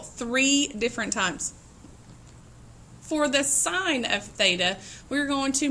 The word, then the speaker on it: sine: ratios are provided for you this relationship is sign you'll see it abbreviated on the calculator is s i n it is not pronounce a sin this will be abbreviated as